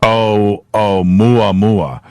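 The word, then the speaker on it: ʻOumuamua: I just been corrected on my pronunciation. Karen says it's Oumuamua.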